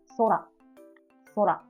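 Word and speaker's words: 空: So this is 2 hiragana. So it means 2 beat. Sora, sora.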